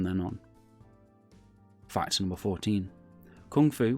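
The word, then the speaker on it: 功夫: on fightin were 14 kung fu was a term invented for Americans to make pronunciation easier the cracked Cantonese term is gongfu however writer James Lee wrote kung fu because Americans kept on mispronouncing it fine number 15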